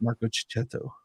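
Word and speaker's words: Marco Checchetto: getting his name right say his name wrong it's Marco chetto yeah Marco chetto it's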